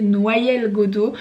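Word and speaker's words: Noyelles-Godault: Je suis jamais sûre de la prononciation si c'est Noyelles, Alex me dit ça se dit bien comme un noyer, Noyelles-Godeau.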